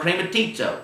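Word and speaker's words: χρηματίζω: It's called krematizo. That's what was the way you would pronounce that, krematizo.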